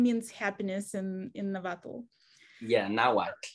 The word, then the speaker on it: Nahuatl: Yeah, Nahuatl. It's pronounced Nahuatl.